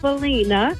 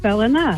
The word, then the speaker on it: Ballina: It looks like Ballina, but it's pronounced Ballina.